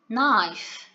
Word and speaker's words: knife: shopping board shopping board knife knife be careful here the k at the beginning of the uh the word we do not pronounce it it is a silence